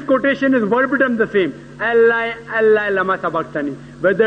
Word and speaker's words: Allah: But when you pronounce it, we have to tell them, pronounce it as Allah.